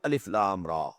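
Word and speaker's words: الر: These are pronounced separately, and so they are the broken into pieces. Not pronounced as Alif Lam Mim Alam. No. Alif Lam Mim. Alif Lam Ra Alar. No. Alif La Ra.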